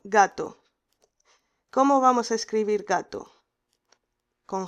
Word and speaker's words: gato: Gato, porque la G con la A decimos ga. Esta palabra con J la pronunciaríamos jato, jato, jato, pero no decimos jato.